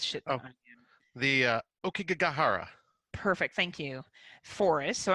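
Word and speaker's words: Aokigahara: I feel like you're better at pronouncing this shit than I am. The Okigahara.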